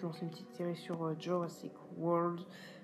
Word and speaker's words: Jurassic World: Et voilà, maintenant, peut-être lancer une petite série sur Jurassic World. On la prononce à l'English et non la French, à la française.